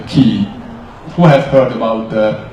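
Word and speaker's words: 気: prominent one is the chi or in Japanese it's called the key who have heard about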